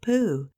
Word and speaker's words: Pooh: my friend Christopher Robin Moo rhymes with Pooh surely there is a